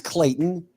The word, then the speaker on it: Clayton: for sure but they didn't know how to pronounce the word Clayton what they call it it is Clayton Clayton Clayton Clayton oh I yeah Clayton there's